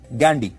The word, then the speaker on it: Ghandy: अंग्रेजी में वो गांधी नहीं गैंडी लिखते थे, जिसकी स्पेलिंग है GHANDY, गैंडी।